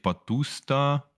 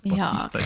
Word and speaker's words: Bautista: Im Moment favorisiert ist der Dave Bautista. Okay. Wenn ich es richtig ausgesprochen habe. Oder Bautista. Ja, Bautista, das geht schon.